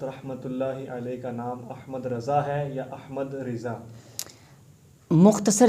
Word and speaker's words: احمد رضا: کو رکھا ہوتا ہے۔ تو آپ رحمۃ اللہ تعالی علیہ کا جو نام رکھا گیا تو وہ احمد رضا ہے۔ اس بات کو ماہر